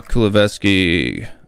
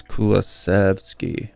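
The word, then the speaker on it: Kulusevski: um and just kind of look at uh kulavsky and i always say his name wrong it's actually it's kulasevsky or something like that um yeah would say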